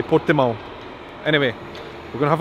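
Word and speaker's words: Portimão: it out portimo pimo in Brazil I probably pronounce it pimo but I guess here Portuguese people say portimo anyway we're going to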